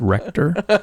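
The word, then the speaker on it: Rector: It's pronounced Recctor.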